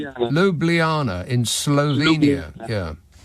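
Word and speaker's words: Ljubljana: Lub l how do you say it lubljana in Slovenia?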